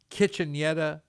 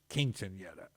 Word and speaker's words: Quinceañera: And it's not pronounced Kitchenetta, it's Quinceañera.